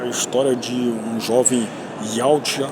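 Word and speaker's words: Yautja: história de um jovem Yout. E eu acho que a pronúncia certa seria essa aí, né, da espécie dos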